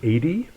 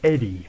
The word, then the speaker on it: ED-E: It's like because of Miniature Nerd, I pronounce it as Edie, but it's supposed to be Eddie, but that doesn't make much sense.